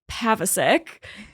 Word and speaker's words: Pavacic: I am here with the fiber artist, Emily Pavacic. I pronounced that correctly.